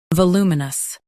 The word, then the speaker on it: voluminous: Stress loo and keep muh-nus light.